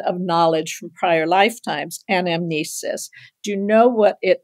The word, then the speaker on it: anamnesis: This has an extra syllable, and amnesis.